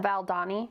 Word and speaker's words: Valdani: Um on the Valdi, how do you say that? Valdani. Baldani uh Instagram.